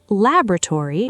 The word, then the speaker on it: laboratory: Laboratory shows a particularly dramatic difference with American English stressing the first syllable heavily and British English often stressing the second syllable instead, along with a noticeably different rhythm across the word.